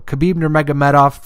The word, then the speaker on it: Khabib Nurmagomedov: Khabib Nurmagomedov. That's how you say it. I don't know why I had so much trouble. Khabib Nurmagomedov versus Donald Cerrone.